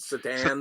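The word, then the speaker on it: Šatan: His last name was it's spelled Satan, but he pronounced it Satan.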